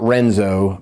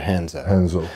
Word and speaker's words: Renzo: yeah a couple branches so not renzo but hanzo so just real quick in portuguese r is h h basically why don't you guys just make it an h i don't know